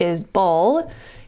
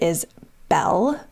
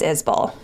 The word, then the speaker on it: Isbell: mary and told me it's pronounced is bull instead of is belle it's spelled i-s-b-e-l-l and